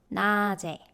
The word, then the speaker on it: 낮에: tiut followed by zero consonant, which means 낮에 is the correct pronunciation. And if it's in isolation, the tiut becomes 디귿, 낮, which means daytime.